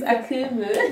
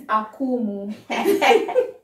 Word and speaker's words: Akumu: americans pronounce akuma so her name is akimu no my name is akumu i'll tell stanley i